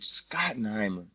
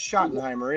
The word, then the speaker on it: Schottenheimer: Brian scotten Heimer what you got his name wrong Schottenheimer scotten Heimer whatever the they call his ass I I swear I heard somebody call him scotten Heimer but I guess it's Schottenheimer isn't it you don't